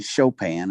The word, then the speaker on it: Chopin: sign that says chopin it's spelt like chopping but it is actually chopin is how it's pronounced